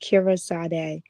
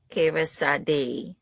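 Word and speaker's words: Kyreesade: It's pronounced Kira Sad. Kira Sad.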